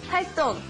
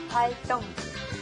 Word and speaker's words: 활동: It's spelled 동, but it's actually 똥, like when you go to the bathroom. 똥, okay? 활동. 활동.